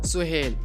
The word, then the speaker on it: Sohail: नाम सुहेल। सुहेल नाम की इंग्लिश में स्पेलिंग है SOHAIL।